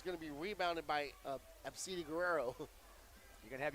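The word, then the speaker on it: Abcde: It's spelled A-B-C-D-E, but you said that there's a way to pronounce that properly, right? Absidi Guerrero.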